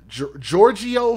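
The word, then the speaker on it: Jyrgio: We heard from the father, Giorgio Hayes, which is spelled J-Y-R-G-I-O.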